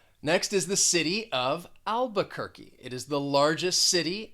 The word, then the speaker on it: Albuquerque: that q you you'll just pronounce it with a k albuquerque after that we have